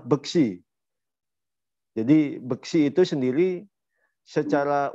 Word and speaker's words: Beksi: silati daya apa eh salah salah pengucapan Beksi padahal pengucapannya adalah besi jadi besi itu sendiri